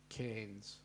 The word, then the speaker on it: Cairns: right not Karen um the AI is pronounced as in air the air you breathe cans um michelan is saying